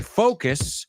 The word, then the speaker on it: focus: I focus, so I miss, focus, is, same sound. So here's the sound. 2 syllables. Focus, focus, focus, focus.